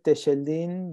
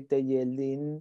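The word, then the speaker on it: Telleldín: Yeah, we say Techeldin because we say shh in Argentina. In the rest of the Spanish language world, they would say Techeldin.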